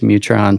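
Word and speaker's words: Mu-Tron: I've got an old like a vintage Mutron sitting on my shelf that I swear someday I'm gonna fix.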